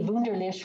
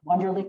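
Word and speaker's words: Wunderlich: so i'm dr my last name is really vunderlich which nobody ever pronounces right so wonderlick is fine but dr is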